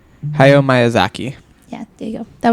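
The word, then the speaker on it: Hayao Miyazaki: I don't know how to pronounce that. Do you? Hio. Oh, yeah. You said it right. Hayo Myazaki.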